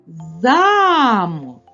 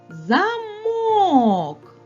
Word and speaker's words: замок: ми покликали це слово наголос падає на звук а звук а є наголошеним А якщо ми переставимо наголос на звук о замок то мить замок перетворився на замок Ось так наголос чарівник